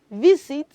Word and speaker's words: visit: attention to something children the letter s in that word is having the sound Z not s okay hence the reason we